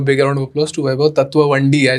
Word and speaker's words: Vaibhav Tatwavadi: My name is Mayur and today with me is actor Vaibhav Tatwavadi. Hi Vaibhav, कसा आहेस? खूप मजा. Thank you so much. And I'm glad you pronounced the name correctly because since last 2 weeks, I'm hearing all sorts of names.